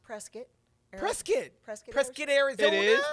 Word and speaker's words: Prescott: Dorothy was from don't get it twisted not Prescott it's pronounced presc presc presc presc it is pres that's what